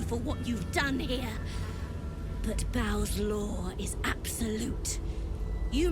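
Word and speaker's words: Bhaal: what you've done here but Ba's law is absolute you may leave unmolded uh-oh they said B and I've been saying ball I bet I've been mispronouncing it for approximately 10 and something episodes our enemy's fate here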